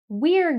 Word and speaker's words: we're: in rapid connected speech, we often pronounce this word as were. So it sounds the same as the word were. You will be taught that W-E-R-E is were and W-E apostrophe R-E is we're, but you will hear native speakers pronounce we're as were.